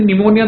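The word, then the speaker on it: pneumonia: निमोनिया dear student एठी निमोनिया देखो तार स्पेलिंग देखो तमे पी टाकू साइलेंट करिवो पढला बेले निमोनिया एन टू पढिवो निमोनिया okay this is a disease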